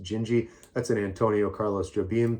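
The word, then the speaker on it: Dindi: jinji jinji is it's it's spelled d-i-n-d-i but it's pronounced jinji that's an Antonio Carlos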